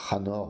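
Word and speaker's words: חֲנוֹךְ: Le septième nom de cette généalogie est le fameux Enoch, que l'on prononce Hanor en hébreu, référence Strong 2585.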